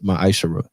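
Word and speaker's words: מעשר: Malachi 3: 8 through1 it means 10th in Hebrew and is pronounced my isar 10% of every penny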